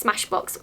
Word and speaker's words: Smashbox: I was very excited when I saw these Smashbock ones, Smashbock? So I was really excited when I saw these Smashbock one – I can't say it! So I was really excited when I saw these Smashbox ones in my P.O.